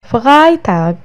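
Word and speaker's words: Freitag: فرايتاغ، فرايتاغ الجمعة.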